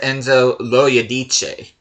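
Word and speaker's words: Enzo Loiodice: And I did figure out how to pronounce this guy's name, and it is Enzo Loyadice.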